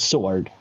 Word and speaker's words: sword: think it's a sword but it's sword you don't Pronounce W so and then you